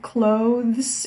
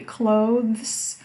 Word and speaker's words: clothes: shop by the way this word clothes can be pronounced in two different ways here you can see the transcription which shows you clothes you can say two clothes or just clothes clothes